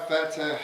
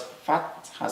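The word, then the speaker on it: فتحة: Not fatha, but fatha. Fatha has a ha.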